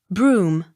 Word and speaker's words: Brougham: Accent on second syllable. Brougham. Broom.